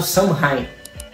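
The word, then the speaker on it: Samhain: Pagão praticado pelos celtas que era nomeado suheim acredito que seja essa pronúncia Ou pelo menos algo similar tô deixando escrito aqui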